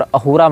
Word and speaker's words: अहूरा: अहूर मजदा। अब ये स को ह पढ़ते हैं। फारसी सकार का उच्चारण हकार के रूप में करते हैं। इसीलिए अहूरा को आप असुर भी कह सकते हैं।